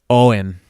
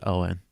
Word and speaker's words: Eoghan: How'd you pronounce that, Josh? Egan? Egon? Egghin? Owen. Owen O'Flanagan. I'm almost 100% sure that's Owen.